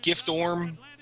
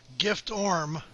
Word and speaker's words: Giftorm: Gift Orm is in good form as we subtract the F from the pronunciation of his name.